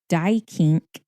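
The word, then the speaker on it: Duyckinck: The critic Everett Augustus Dykink, that is how you say it, not how it's spelled.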